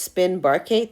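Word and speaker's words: Spinnbarkeit: more helpful that way this word here is pronounced spin barate that's how you say that and that's what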